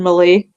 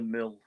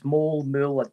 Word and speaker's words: Moule: I keep saying Malay. My name's actually Moule. Now, there's multiple things that I don't know who changed that. It's Moule.